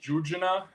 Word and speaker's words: Jurjana: So, the name of the album is pronounced Jurjana, and it's the name